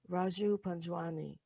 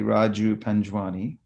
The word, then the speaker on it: Raju Panjwani: you pronounce it well traditional the Indian way would be they they pronounce the JS so it'll be Raju panjwani but I love it